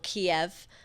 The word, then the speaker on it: Kiev: Is it because um Kiev is the Russian pronunciation?